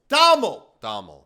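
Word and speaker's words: Domhnall: Is that how they pronounce it? Dominic, or is it Dommel? Dommel. Right.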